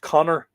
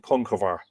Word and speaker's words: Conchobar: Now, Conchobar could be pronounced Connor, son of Ness, Connor MacNessa, Conchobar, or Crohor. I propose to use the pronunciation Conchobar. But if you'll hear, sort of Connor would be sort of, I think, probably more an anglicization of that name, and Crohor, which, when